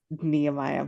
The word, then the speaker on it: Nehemiah: Namaya all the time, and it bothers him, but now I You're do it on missing a purpose. syllable. I know. And it's Nehemiah, but I now at this point I call